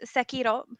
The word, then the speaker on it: Sekiro: um right so um so it's sekiro um the r is pronounced a little bit differently than like it's like you hit the tongue a little different it doesn't matter um